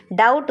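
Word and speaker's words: doubt: डाउट में B silent था।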